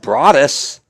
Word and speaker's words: Broadus: And I looked at his dad, and I said, Broadus? Why didn't they call him Brodus? And his dad says, well, that's our last name. It's pronounced Broadus.